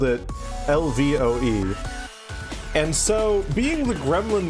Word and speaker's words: Lvoe: He was like, I really love this, but he accidentally spelled it Lvoe.